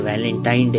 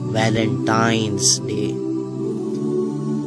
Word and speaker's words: वैलेंटाइंस डे: नाम पर गौर करें इसे जो आम कहा जाता है यह वैलेंटाइन डे है लेकिन हकीकत में जो इसका प्रोनाउंस एशन है वह है वैलेंटाइंस डे य एक वैलेंटाइन वाला